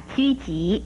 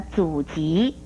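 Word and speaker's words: 狙击: 最后要提出来的是，有人不注意把狙击念成了阻击或是举击，这都是不妥当的，请您要特别的注意。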